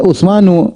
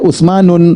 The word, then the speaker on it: Utsmanu: Contoh Utsmanu. Jangan baca Utsmanu, jangan baca Utsmanun, salah. Perhatikan, jangan baca Utsmanun, keliru.